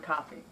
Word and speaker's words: Coffey: I love the character of, and I have to read the thing so I can remember, John Coffey. I Like the drink, only not spelled the same.